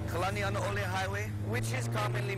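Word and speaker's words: Kalanianaʻole: Kalani'anaole Highway, which is commonly mispronounced such as Kalani'aniole or Kalani'anaole, carries a name of who is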